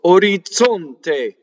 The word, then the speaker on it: orizzonte: then when it's ZZ, it becomes DZ. But in this case, it's TZ. So orizzonte.